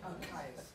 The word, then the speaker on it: Kaisth: Kaisth. Kaisth. The H is silent.